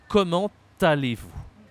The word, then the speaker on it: comment allez-vous: So you're gonna first say, comment allez-vous? Comment allez-vous? So here you can say we have to say the T because there is a vowel here. So we make the link, the liaison here.